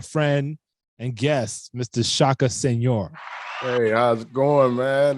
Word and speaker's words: Senghor: So just to make sure, your last name is pronounced Senghor. Senghor. Yeah. Senghor.